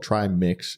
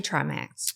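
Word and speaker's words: Trimix: that's why it's called try mix because there's three ingredients and it's actually like a compound drug I always say it wrong I say Trax and uh you direct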